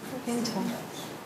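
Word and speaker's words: Findhorn: Fintor. That's how you pronounce it.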